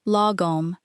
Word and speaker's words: lagom: what it actually means, lagom. Pronounced something like logom.